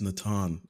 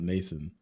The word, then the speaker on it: Nathan: By the way, I just realized it's Natan and not Nathan. Both work.